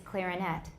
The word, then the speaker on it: clarinet: So, 单独念, it's clarinet.